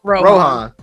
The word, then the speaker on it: Rohan: Or how do you say his name? Rohan. It's him, isn't it? I mean, like Lord of the Rings.